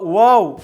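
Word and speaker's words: واو: это буква вам ун буква вау является бубна губной мы вытягиваем губы трубочкой и таким образом этот звук произносится он является щелевым является самантой в ноль в нем доминирует голос над шум и это буква является мягкой читается через следующим образом у ва ва ва эту букву обязательно нужно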